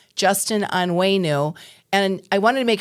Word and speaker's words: Onwenu: Senate District 1, Justin Anu. And I wanted to make sure I pronounced his name right because it spelled O N Wu. And he said, just remember on the way with new leadership, clever.